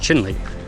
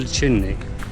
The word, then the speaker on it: Chelly: at some point so we asked and is pronounced chinley Canyon Del chinley chinley so the park ranger said in the